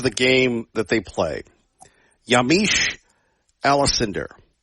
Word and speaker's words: Yamiche Alcindor: Yamiche Alcindor. And yes, I pronounced her name correctly.